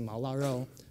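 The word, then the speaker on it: 毛腊肉: You pronounce it Mao Laro. Mao means hair, and Laro is sort of like a preserved meat, like a jerky or bacon.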